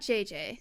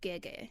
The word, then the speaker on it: Gege: So it's not JJ. That would be more Korean. It's Gege.